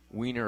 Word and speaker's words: Wien: In Vienna, they call the city Wien, and it's spelled W-I-E-N.